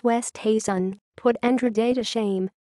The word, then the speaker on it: Oosthuizen: people's tongues his Thuan whose surname no one can seem to pronounce correctly it's West Hazen put Andrew day to